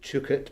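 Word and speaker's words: Duguid: my namesake David uh as he pronounces it chuk it but um David dug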